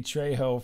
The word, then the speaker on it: Trejo: but uh i'm sorry trevor i'm sorry i pronounced that wrong trejo yes well whatever maybe you're saying it wrong